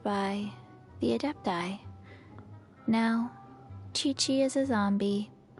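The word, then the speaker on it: Qiqi: I've been saying your name wrong the entire time. Chi-Chi. I thought it would have been like Qui-Quai.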